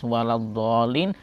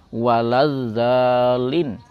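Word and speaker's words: ولا الضالين: anamtu alaihim atau misalnya mengganti huruf Dod pada lafaz wadolin sehingga menjadi wadzalin maka ada beberapa hal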